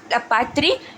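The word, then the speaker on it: La Patrie: नाउ बेटू French words है ये दोनों के दोनों, तो इनकी प्रोनाउंसिएशन एग्जैक्ट ऐसी होगी, लपात्री एला सितोयेन।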